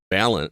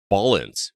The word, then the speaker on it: Ballance: game that you've been reviewing for us called balance I'm sorry not balance it's Ballance b a l l a n c at